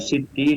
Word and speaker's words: Siti: Namun karena lahjah atau karena cara pengucapan sehingga orang menyebut dengan kata Siti yang maksudnya adalah kata Sayyidati dan menyebut kata Sidi yang maksudnya adalah Sayyidi, ya.